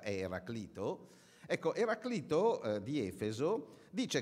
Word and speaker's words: Eraclito: Ecco il primo è sulla pronuncia Sì si può discutere Eraclito o Eraclito qualcuno l'avrà sentito parlare in realtà la pronuncia corretta Eraclito Ecco Eraclito di Efeso